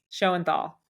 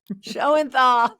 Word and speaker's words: Shoenthal: last name so you do it for me show and Thal show and Thal thank you I'm the worst at pronunciation with these things so I'm here with the Amazing Amy show and Thal thank you so much for being here today